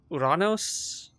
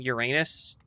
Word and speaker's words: Uranus: It was meant to be pronounced, I think it's Uranos, but because of how it got like translated, it became Uranus.